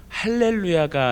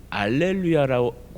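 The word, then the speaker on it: הללויה: 어 찬양을 하다 보면 할렐루야가 아닌 알렐루야 가사가 나온 때가 있어요 어떤게 맞는 걸까요 둘 다 맞아요 할렐루야는 히브리어 발음이고 이제 그것이 헬라어로 번역이 되고 라틴어로 번역이 되면서 알렐루야고 발음하는 것뿐이지 똑같은 말이라고 이해하시면 되겠습니다 그래서 오늘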